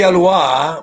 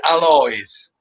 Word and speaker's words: Alois: it used to be alois because it's a french family but in italy it's alloys okay okay so if